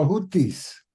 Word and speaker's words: Hutíes: interesante la de los Cómo se dice jutis utis en inglés pero utis utis Okay está bien entonces